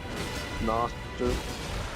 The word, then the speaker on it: Gnoster: Brother, you gotta stop pronouncing the G. Like Delta Screen? Noster.